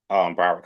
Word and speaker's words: Broward: Broward College. But at the time, it was community college, but it's called Broward College now.